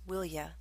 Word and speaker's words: will you: tag question will you with a request it's often pronounced as willia example quit that tapping